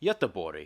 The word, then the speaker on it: Göteborg: the second largest city, Göteborg, or Gothenburg for the misguided English speakers. Göteborg actually also has the largest shipping port in the... Göteborg? That's how it's pronounced.